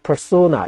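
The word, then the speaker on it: persona: 독일어로 발음하면은 페르소나가 되고요. 그 다음에 이제 영어로 발음하면 퍼소나 이렇게 발음이 되는데, 이제 우리 한국에서는 주로 이제 페르소나 이렇게 발음을 합니다.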